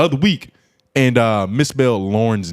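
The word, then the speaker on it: Lorne: I don't even know how you could Hey yo, does that pronounce Lauren? L O R. Lauren. Let me see it again. L O R N E. That's Lauren. Yeah, that's Lauren.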